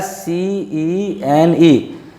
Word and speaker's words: scene: For example, SCENE. Just see, C is preceded by S and followed by E over here. Hence, it will give the sound of seen.